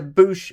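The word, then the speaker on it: Boushh: we have Princess Leia in either boosh Bausch or Bosch disguise depending on which way you want to pronounce it and she is represented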